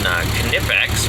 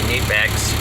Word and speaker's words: Knipex: And I showed you those Knipex, or as I guess it's properly pronounced in German, Knipex, or Knipex, and I just say Knipex.